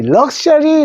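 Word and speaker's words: luxury: 하는데 스 많이 안 쓰여요 자요 단어입니다 우리 럭셔리 럭셔리 하는 마자이 하죠 우리 저 근무 꼬리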